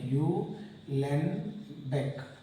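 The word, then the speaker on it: Uhlenbeck: Alright, and it is proposed by U. Len Beck. So silent, H is silent. U. Len Beck it is, and Gauss-Smith.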